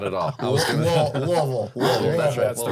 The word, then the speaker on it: Louisville: I was gonna, Louisville.